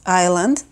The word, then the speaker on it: Isla: It means island. And actually in Spanish, it's pronounced Isla. And again, that's one of the reasons we didn't choose it, because of the pronunciation is different in both languages.